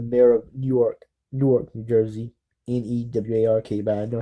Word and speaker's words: Newark: Newark, but I know how to pronounce it right a little better.